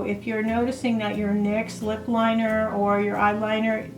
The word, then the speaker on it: NYX: now on a side note um NYX uh NYX as some people call it but it's pronounced NYX um they have changed their lip liners and